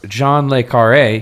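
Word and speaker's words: John le Carré: Uh the author's name is pronounced John Lee.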